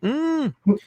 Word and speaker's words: Miike: Mikey? Something like that, one or the other, right? Miike. There you go. That's how you say it, just in case you were wondering.